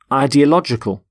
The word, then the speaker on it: ideological: So the plural of ideology is ideologies, and the adjective, ideological. Ideological. The stress is on lodge in the middle.